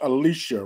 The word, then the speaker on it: Alicia: You said her name is pronounced Alicia, right? Yeah.